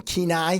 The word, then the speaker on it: Kenai: And uh I'm going to do a show in Kenai. Found out that's how you say it.